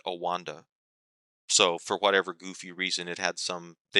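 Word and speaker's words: OANDA: Olson and Associates, and so they took that O and A, but then they started pronouncing it Owanda.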